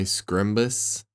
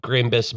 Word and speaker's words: Grimbus: I will say, if you have been bitten by Scrimbus in the past 2 Grimbus. weeks, Grimbus? Yeah. Sorry. It is spelled GRIMBSSS.